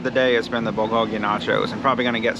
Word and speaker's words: bulgogi: this time how to say it right it's bulgogi nachos the winner i guess the best dish